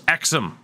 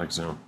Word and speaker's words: Exum: how I pronounced it Australian always proun Exum is exom not Exum fair enough I always